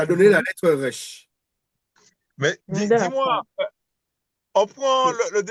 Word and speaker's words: Resh: Resh. Rech. Alors, ça se prononce comme, c'est le R, c'est la lettre R. Là, c'est le vrai R.